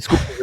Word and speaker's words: Schuylkill: that they know how to say Schuylkill, the Schuylkill River.